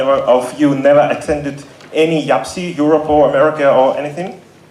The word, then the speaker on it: YAPC: Welcome to Kiev, welcome to Ukraine, welcome to this year's YAPC Europe.